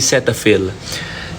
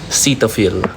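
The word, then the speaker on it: Cetaphil: Hindi setapill. Yun yung na nalaman ko sa brand nila. Cetopil. Yun iyung pronunciation.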